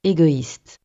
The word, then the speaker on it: égoïste: Podemos poner una diéresis sobre las vocales E y U para que dos vocales consecutivas sean pronunciadas separadamente. Por ejemplo, A y se pronuncia normalmente E, pero esta palabra se pronuncia maïs, porque hay una diéresis sobre la letra I, igual con esta palabra, que se pronuncia égoïste, Después, los consonantes.